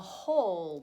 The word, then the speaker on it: whole: use on this one a silent beginning letter oh it is WH there's a silent W and it is still